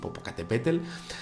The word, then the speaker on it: Popocatépetl: la verdad es que me cuesta un poquito pronunciarlo bien, pero bueno, yo lo voy a decir así, Popocatépetl, con un objeto cilíndrico y en algunas de